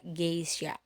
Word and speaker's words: geisha: Harusnya kita kalau misalkan kita mengikuti aturan yang tadi, karena dia diikuti oleh huruf maka dia harus dibaca geisha, padahal tidak, karena memang pengucapan dari sononya itu adalah G, maka kita baca geisha.